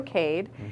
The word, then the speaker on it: Cade: And if you're not familiar, Cade is spelled C-A-D-E.